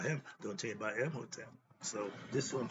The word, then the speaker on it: Imhotep: Now, when I say Imhotep, when I say Hotep, I spell it with the He.